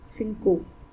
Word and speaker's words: cinco: so it becomes dinner another example is presence of i and i is present after or is present after c so let's take it like s c c c and